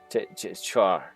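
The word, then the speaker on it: Chak: So the K is pronounced as an R? As a C. My parents weren't very smart. She is pronounced as is. The K is pronounced as a C, but it sounds like a char.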